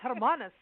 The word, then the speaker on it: Hermanus: But anyway, and it's Hermanus. I got to get my South African vibes in there.